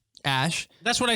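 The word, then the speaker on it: Æ: It's pronounced Ash. Ash.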